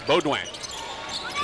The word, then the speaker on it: Beaudoin: back into the ballgame Beaudoin a very nice South Louisiana Cajun name spelled Bowdoin BAE a you do I am but you don't pronounce the N it's boguang Lady Demons have the